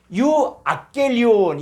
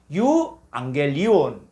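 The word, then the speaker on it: εὐαγγέλιον: 감마 키, 감마 크시 이렇게 될 때는 요 앞에 감마를 이응 처리해 준다는 거예요. 이응 처리. 그래서 이게 유아켈리온 이렇게 읽을 수밖에 없는데 요 감마 용법을 만들어서 어떻게 하냐? 요걸 이응 처리해서 유앙겔리온 이렇게 발음하는 거예요.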